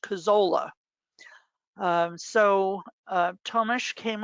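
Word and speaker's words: Kuczala: some reason pronounced k-u-c-z-a-l-a it's always been pronounced cazzola um so uh thomas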